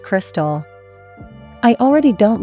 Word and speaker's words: KRXSTXL: Confused, the name is pronounced Crystal.